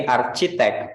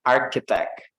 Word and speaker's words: architect: Nah, untuk selanjutnya, the last one itu ch itu dibaca kah atau kah. Oke. Nah, example di sini orang bacanya bukan lagi arsitek atau arsitek, oke, tapi kita baca di sini architect.